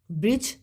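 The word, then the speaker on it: bridge: ब्रिज, ब्रिज में D silent होगा।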